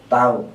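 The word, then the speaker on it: τ: Momen gaya lamanya tau, bacanya kalau begitu adalah tau.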